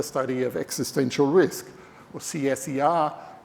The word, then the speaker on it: CSER: We decided to call it the Center for the Study of Existential Risk, or CSER, pronounced CSER.